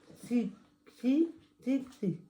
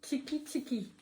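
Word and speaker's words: Txiki Txiki: Alors, Tixi Tixi. Tchiki tchiki. Oui. Je ne veux pas du tout mettre trop de lettres là. Non, c'est Non. tchiki tchiki.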